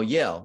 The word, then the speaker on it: Yale: I think it rhymes with fail. Oh, Yale Law School here in New Haven, and has been in New Haven ever since.